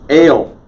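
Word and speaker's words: אֵל: ale ale god now if someone has been transliterating that for you in english and you think l is the word for god it's because they're not pronouncing the say ray collect correctly okay ale eretz skip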